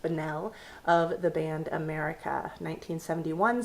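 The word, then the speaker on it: Bunnell: I don't know how to pronounce his last name, but it looks like it would be pronounced Banell of the band America, 1971 song.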